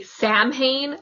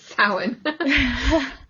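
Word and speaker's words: Samhain: it and they say Sam Hayne, I'm like, "What the heck?" Because that's that's how it's spelled. It's spelled like you would say call it Sam Hayne, but it's not. It's sin.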